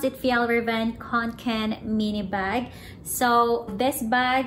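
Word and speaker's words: Fjällräven Kånken: So today guys, magre-review tayo ng FJALL RAVEN KANKEN mini bag.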